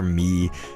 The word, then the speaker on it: Mii: There's a channel in there that's called Give Me Your Me. It's spelled like Give Me, M-I-I.